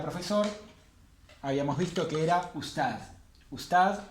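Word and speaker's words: أستاذ: Acuérdense que siempre que aparece el alif con hamza lo que pronunciamos es la vocal. Us. Juntamos esta con esta porque esta tiene un sukun, entonces si tiene un sukun se suma esta sílaba.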